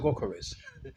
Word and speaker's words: Gyökeres: Yeah, it could be Gyökeres. Could be a silent G and it's pronounced with the Y. But I think Gyökeres is the more proper name, proper pronunciation of him.